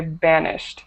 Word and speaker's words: banished: So first of all, I'll point out this word, when you use it in the past tense, don't add that extra syllable. So just say banished, banished. Banished, yeah, banished.